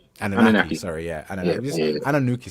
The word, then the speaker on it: Anunnaki: for this evening, which is the Anunnaki? That's how it's pronounced. Anunnaki. Anunnaki.